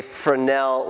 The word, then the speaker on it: Fresnel: And so it's pronounced Fresnel. It looks like Fresno, but it's pronounced Fresnel.